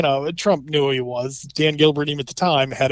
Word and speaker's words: Dan Gilbert: few times was you kept mispronouncing Dan Gilbert his name the Detroit billionaire that owns the Cavaliers and Quicken Loans kept calling him Dean Gilbert repeatedly um which would